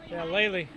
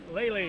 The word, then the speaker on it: Lely: Looking at that, I would say Lely, but it's pronounced Lely. Lely.